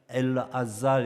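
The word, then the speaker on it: אלעזר: 근데 이 나사로라는 이름이 재밌는 것은 분명히 이제 히브리어 이름에서 왔는데, 히브리어로 가면은 엘아잘 이렇게 발음합니다. 엘아잘.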